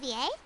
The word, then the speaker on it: Xavier: Xavier hey isn't that zavier so he's back in fontain now zavier is how they pronounce his name zavier I'm still find